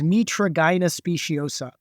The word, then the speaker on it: Mitragyna speciosa: And the scientific name, and I had to look up the pronunciation, is Mitragyna speciosa.